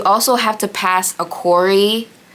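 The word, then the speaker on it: CORI: You also have to pass a Corey, I think it's Corey check, that's how they say it.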